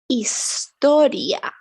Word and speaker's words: historia: ah done yeah but it's more important in espanol is silent always silent we have to write it but we don't say anything about it we say Estoria historia we say Horizonte orizante we say hospital hospital